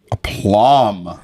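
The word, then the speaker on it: aplomb: violently yes and with a plum a plum welcome vocabulary a p l o m b the be is silent yes and then you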